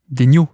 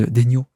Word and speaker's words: Daigneault: Daigneault, d'ailleurs, pardon. Certains veulent que je dise Daigneault. Donc Mark Daigneault pour les Français, Mark Daigneault pour ceux qui prononcent son nom à l'américaine, puisqu'il est américain.